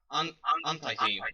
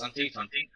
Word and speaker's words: Antietam: Wait, it's not pronounced Anti-team. It's Antietam. Antietam.